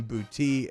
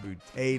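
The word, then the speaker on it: Boutte: if you hear me bouncing back and forth between boutique and bootay today it's because they've got conflicting sources uh the pronunciation guide does say a booty so it's probably what i'll find my way back to uh so boude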